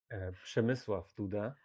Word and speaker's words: Przemysław Duda: And if you're brave enough, then try to pronounce his Polish name, which would be Przemysław Duda.